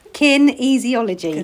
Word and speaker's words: kinesiology: Kin easyology. Say it. Kinesiology.